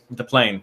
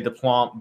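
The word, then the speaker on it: Deplagne: And then I have, and Reid, you can help me out in the pronunciation here. Deplanier from FC. What's that? Deplane.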